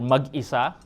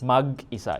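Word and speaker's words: mag-isa: So it's is you stop at the mag and then e and then sa.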